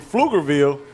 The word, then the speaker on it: Pflugerville: P Field, but I'm just saying, in Pflugerville, the P is silent.